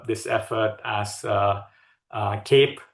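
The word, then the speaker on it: CAIPE: And then uh uh around July this year uh we uh open sourced uh this effort as uh uh cape pronounced as cape of a superhero u standing for uh community AI uh platform engineering.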